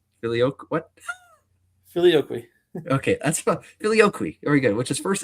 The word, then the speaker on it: Filioque: Okay, that's Filioque.